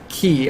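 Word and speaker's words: χ: with the linguistics uh kingdom hearts key i would have actually pronounced it chi because it's always written out chi anyway uh it was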